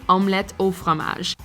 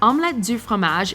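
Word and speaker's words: omelette au fromage: can say fun fact the proper way to say cheese alma in french is actually omelet o fromage if you grew up re-watching this episode however omelet du framage is forever ingrained in your head we can listen to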